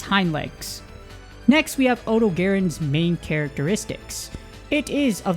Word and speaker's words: Odogaron: guide for odog Garin odogaron odogaron there's like multiple way to pronunciate it I say Odo Garin just because that's how most of my friends say it and this contains all